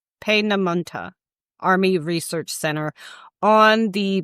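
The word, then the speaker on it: Peenemünde: One of the primary targets was the and I I got a how to pronounce this guide. Pam Monta Pamonta Army Research Center on the Baltic coast.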